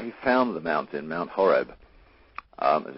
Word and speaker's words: Horeb: um the the the the original word um Horeb was spelled with a c it was c h o r e b and the C was silent uh so in English translation that it became h o r e b but it was pronounced